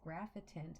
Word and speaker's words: Graphitint: wrong the entire time so it's graphitant there's an eye in there um even though they